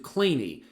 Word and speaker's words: Kleene: steven clean um who didn't pronounce his name clean he pronounced it claimy not queen of kleenex fame i i don't